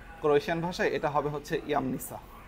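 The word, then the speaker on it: Jamnica: আমি যখন প্রথম ক্রোয়েশিয়াতে এসেছিলাম আমিও বলেছিলাম জামনিসা, কিন্তু আসলে এটা জামনিসা না। ক্রোয়েশিয়ান ভাষায় এটা হবে হচ্ছে ইয়ামনিসা। ক্রোয়েশিয়াতে আপনার এই জেকে এরা ই বলে, ই উচ্চারণ করে।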